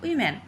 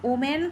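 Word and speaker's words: women: এখানে সব ঠিক থাকবে শুধু এমই এন ওম্যানটাকে আমরা যখন প্রোনাউন্স করব সেটা কিন্তু হয়ে যাবে উইম্যান আমরা কিন্তু ওমোন করে বলতে পারবো না।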